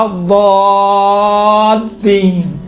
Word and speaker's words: الضالین: ہے، کاملاً باریک ہے، لیکن یہاں پر لام چونکہ لام کے اوپر تشدید ہے، تشدید کی وجہ سے لام کا تلفظ تھوڑا سا موٹا اور ضخیم اور غلیظ طریقے سے کیا گیا ہے.